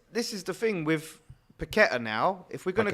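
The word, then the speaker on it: Paquetá: No, it's just, this is the thing with Paqueta now. If we're going to go and start playing Paqueta, are we going to? Sorry, I've got to do the accent. Paqueta, right?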